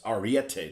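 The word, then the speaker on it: Ariete: just like he says what does he say AR division it's Arete division actually it might not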